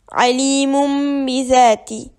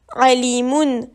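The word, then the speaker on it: عليم بذات: Ici, ça donne alimum bizati. Il ne faut pas prononcer alimun, mais alimum. On doit bien entendre le petit mime.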